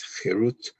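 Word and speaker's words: חֵרוּת: And harut on the stones, do not pronounce it as carved, but rather pronounce it as chirut, which means freedom.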